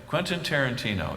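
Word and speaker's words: Quentin Tarantino: Some of you will will recognize uh this movie director uh Quentyn Tarantino. I always have difficulty saying his name, Andy. Quentyn Tarantino. Am I saying it correctly? Yes. Quentyn Tarantino.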